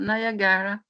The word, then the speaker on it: Niagara: How do you pronounce Niagara? Niagara Falls.